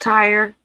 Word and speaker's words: Tyre: Oh, it's pronounced Tyre or like a tire like a Tyre.